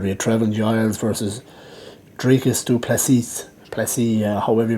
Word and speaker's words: Dricus du Plessis: Dricus du Plessis, that's how you pronounce it.